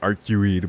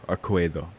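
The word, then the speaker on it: Arcueid: So yeah, I always say Arcuid, but which sounds gross in comparison, but Arcuedo. And fucking CL talking about curry.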